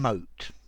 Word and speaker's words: mote: hi there students mote and mote so notice these two words are pronounced exactly the same uh and they're both